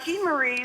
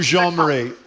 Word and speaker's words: Jean-Marie: Am I pronouncing it right or no? Yeah, Jean-Marie. Jean-Marie, I'm sorry.